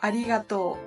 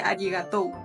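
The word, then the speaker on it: ありがとう: sino sense y bueno la u al largalo no por ejemplo Arigato no no se dice arigatou no y bueno en general t esa u al final se utiliza bastante pero alarga la o anterior y este bueno la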